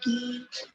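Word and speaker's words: 一: It is pronounced as E.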